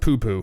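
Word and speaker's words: Poopó: Okay, it's pronounced poo-poo. We settled on it, yeah.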